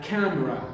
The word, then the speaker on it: camera: camera camera cam okay it's a word having two syllables stress on the first one so it's a camera okay camera camera I